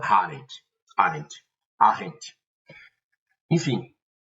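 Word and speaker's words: Arendt: Vou perguntar sobre a Hana Arent. Arrent. Arent ou Arent. Cada um pronuncia de um jeito, mas a pronúncia em alemão, que é a pronúncia nativa do nome dela é Hana Harent.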